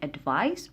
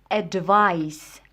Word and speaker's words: advice: اولا من ناحيه النطق، هذه كتنطق اللي فيها السي كنطقوها advice بحال الصوت ديال السي advice. هذه اللي فيها اس كتنطق advise، كتنطق بواحد الصوت ديال زد advise.